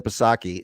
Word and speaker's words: Psaki: Here's Jen Psaki. I always pronounce the P out of disrespect.